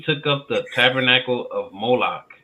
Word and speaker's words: Moloch: yeah he took up the Tabernacle of Mona right it's pronounced okay read it again yay you took up the Tabernacle of moloch right so once again because what were we